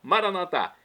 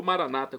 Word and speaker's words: Maranatá: Maranatá, como dizemos nós católicos, ou maranata, como dizem nossos irmãos separados.